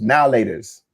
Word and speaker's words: Now and Later: here's the funny thing I know it's spelled now lat but no one ever pronounced it like that it was now lers now you got now